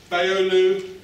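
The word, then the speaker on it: Beyoğlu: avenue something like that the g with a little upside down crescent on is silent so baolu the current turkish prime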